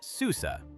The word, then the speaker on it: Susa: Herodotus describes a royal road running from Sardis, pronounced Sardis, in the west to Susa, pronounced Susa, deeper in the imperial core.